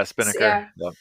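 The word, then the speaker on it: Spinnaker: this tool by Netflix I hope I pronounce it correctly it's called spin sper yeah Spiner yeah so that one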